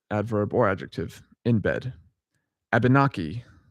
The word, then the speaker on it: Abenaki: Abenaki, yeah, I think that's how you say it. Also, Abnaki. There's another way to pronounce it. Abnaki.